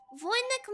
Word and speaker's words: Voynich: Oh, you don't pronounce the H. Okay. Voynich manuscript.